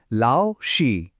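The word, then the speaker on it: 老师: ম্যান্ডারিনে শিক্ষককে বলা হয় লাউসি। উচ্চারণটা হবে লাওসি।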